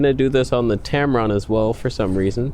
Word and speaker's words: Tamron: am that's for sure he's a Tamron in rhymes with tampon one little turn and